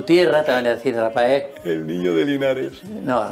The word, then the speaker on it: Raphael: sabíamos leer el nombre, decían Rafael. No, Rapa, ¿por no, qué? Por eso, porque el PH, Ra... PH es F.